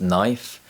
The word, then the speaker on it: knife: There are several common words which contain the silent letter K, such as knife, and the silent letter G, such as foreign.